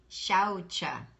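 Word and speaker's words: शौच: second mouth position shut then you have the vowel ow ow is always accented so you want to say you want to accent so you want to do second mouth position and accent that out so say shouta you say shouta good shouta say chocha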